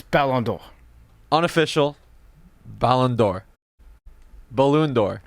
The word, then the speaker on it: Ballon d'Or: I mean, I'll tell you right now, correctly, but it's Ballon d'Or.